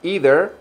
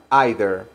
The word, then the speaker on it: either: either nails or glue Porque esa palabra se puede pronunciar either o se puede pronunciar either if you want to